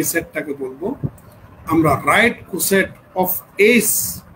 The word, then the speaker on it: coset: সেটটাকে বলব আমরা right কোসেট অফ এস উচ্চারণটা হবে right কোসে অফ এস ইন দা